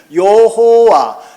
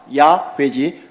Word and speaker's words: 여호와: 여호와. 예, 다른 교단에서는 또 다른 신학자들은, 다른 목사님들은 야훼라고도 합니다. 같은 겁니다. 모음의 차이로 인하여 발음이 여호와, 야훼지 똑같습니다.